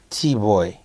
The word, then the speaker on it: Bwoy: It's actually Bwoy. Bwoy. That's how you say it. Yeah, that's how I say it. That's what Jamaican like.